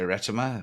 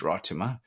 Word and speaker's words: Ratima: Somebody tried to teach me how to say it. I used to say Ratima. Well, apparently it's Rotima.